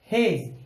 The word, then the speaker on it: hedge: तो सभी एग्जांपल्स में यही है कि डी पहले आया हुआ है और जी बाद में, तो यहां पर डी हो गया साइलेंट, ये बन गया हेज।